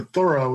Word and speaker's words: Thoreau: biography by laura walls about thoreau or thorough as i'm supposed to pronounce him is that right i'm i i'm bad about it like it always sounded kind of pretentious to me but that's what how he pronounced it so i'm i might as well anyway so i was